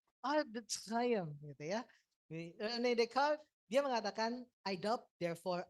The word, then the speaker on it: René Descartes: Saya mengambil ini satu parodi dari pernyataannya René Descartes. Ya. Cara bacanya begitu toh gitu ya. René Descartes.